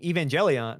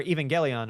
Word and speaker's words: Evangelion: Next weekend we could see Evangelion or Evangelon or it's pronounced both ways.